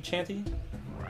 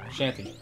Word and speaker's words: Shanty: Snicky Chanty? Shanty. That's how you pronounce that.